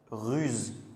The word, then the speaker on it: ruse: Sauf que, par exemple, ruse, on va dire z, ruse.